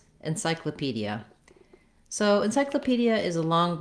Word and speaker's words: encyclopedia: And letter O in this word is in an unstressed syllable, so it's going to say vowel schwa. It sounds like So that syllable sounds like kla.